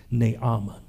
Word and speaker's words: Naaman: talks about a man named Naaman some pronounce his name nayama he was stricken with